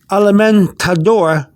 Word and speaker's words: alimentador: if you go here alamen tador hr some people pronounce the d with a with a slight th so you got d